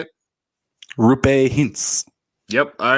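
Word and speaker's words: Roope Hintz: Rupe Hintz.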